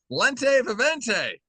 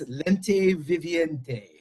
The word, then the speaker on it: Lente Viviente: Their latest album, well, probably below this, Lente Vente is out now.